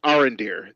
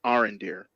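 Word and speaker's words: Arondir: I don't know how to pronounce his name. Arendir. There you go. I'm gonna call him Arendir.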